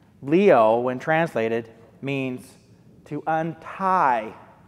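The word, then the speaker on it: λύω: is most often used to describe forgiveness is pronounced leo leo when translated means to untie to loose to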